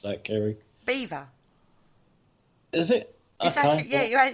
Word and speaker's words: Belvoir: you pronounce that kerry beaver is it yeah it's actually said beaver castle but it is spelled bellevoir castle all right yeah i